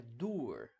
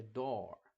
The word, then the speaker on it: door: book mas por exemplo em door door o som de o o nesse caso não é u não é dur não é dur como seria em book na verdade é door então por exemplo The